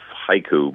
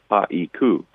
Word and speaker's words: haiku: And to illustrate that point, the word haiku itself is 2 syllables in English, but counts as 3 sounds in Japanese, haiku, even though they don't say it that way.